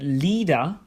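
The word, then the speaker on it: Lieder: city of Austria Vienna Lia means unfortunately but leer means songs if you see another combination of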